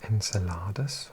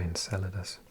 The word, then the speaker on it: Enceladus: I can't even remember is it Enceladus or Enceladus? I think I've heard it pronounced both ways.